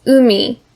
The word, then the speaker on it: 海: has two important readings the first one is umi a word we already know this kanji is